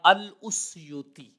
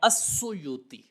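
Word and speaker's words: السيوطي: یہی تلفظ بتایا ہے۔ اب جو اصل لفظ ہے اس کا وہ سامنے آ گیا الاسیوطی، لیکن اس کی تخفیف پہ کرتے ہیں تاکہ اس کو پڑھنا آسان ہو جائے، یا بعض لوگوں نے تلفظ یہ بولا ہے السیوطی۔ اب جب ہم السیوطی پڑھیں گے تو جو الف کا ضمہ تھا وہ سین پر آ جائے گا، سیوطی آ جائے گا،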